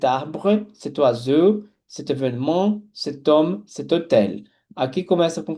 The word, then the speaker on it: homme: Só que o H é consoante, só que ele é mudo aqui, tá? Então, o som que prevalece é da letra O, então junto o T que aqui está com a letra O que está após o H, OK? Como o H é mudo, ele não tem som.